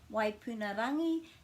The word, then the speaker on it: Waipunarangi: My name's and today I'm going to be talking about the pronunciation of the star Waipunarangi and also the meaning.